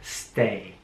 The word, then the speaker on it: stay: sie bleiben oder aufenthalt stay hier ist es sehr wichtig das awi 1 heraus zu sprechen also nicht ein sondern stay step heißt schritt und